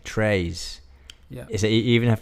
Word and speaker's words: très: So we would say like tray. Yeah. Tray. Yeah. Très. No, it's trays.